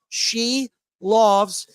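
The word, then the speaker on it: Silovs: David quad he said it's pronounced she loves he'll be making I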